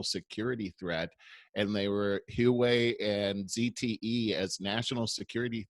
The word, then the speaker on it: Huawei: I think it's pronounced Huawei.